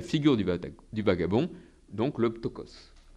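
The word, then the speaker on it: πτωχός: du vagabond, donc le ptokos. Le ptokos, ou ptoros, si vous voulez, dans la prononciation actuelle.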